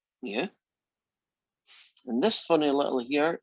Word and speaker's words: mu: Now, this fella here, that is a Greek letter, and you pronounce it mu.